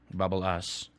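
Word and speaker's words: babbelas: And then we get to one of my better words, which is pronounced this way. Bubble-us.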